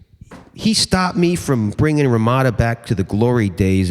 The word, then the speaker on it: Ramada: stopped me from bringing Ramada back to the glory days as a pinnacle of intellectual exchange. But back in the day, it wasn't pronounced Ramada, it was Ramada, kind of like Ramadan, and I think that's